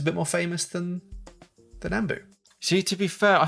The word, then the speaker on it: Nambu: We've got a Nambu Type 14 there. Or Nambu, as I'm told we should pronounce it.